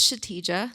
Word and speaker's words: Kshitija: My name is Kshitija. The K is silent, if you were confused.